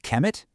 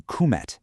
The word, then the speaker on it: Kemet: And because of that, we've learned that Kemet, the name for Egypt, was probably pronounced closer to Kum.